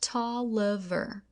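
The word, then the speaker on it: Taliaferro: Later in my life, I found that my mother had given me the name of Booker Toiver, pronounced Talver. soon after I was born,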